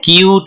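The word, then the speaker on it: cute: लेकिन हम इसको कुठे नहीं बोलेंगे क्या बोलेंगे क्यूट बोलेगा क्या बोलेंगे इसको क्यूट तो यही हुआ किसी शब्द पे साइलेंट लेटर्स के आने की वजह से एंपहसिस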